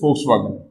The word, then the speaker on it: Volkswagen: one of the previous class so this is volkswagen we are produced crn we are producing outdoors